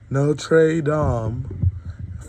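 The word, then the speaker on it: Notre Dame: No trey dom. Fighting Irish. That's how you pronounce in Irish. It's Dom. Kind of like damn, but dumb, you know, kind of like a zesty.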